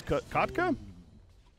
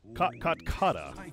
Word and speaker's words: Kotkata: How do you pronounce it? Kotka. Kotkata. Kotkata. Kotkata. Kot? Yes. Kata. Kata. Kotkata. There we go. I got it. Oh, it's perfect.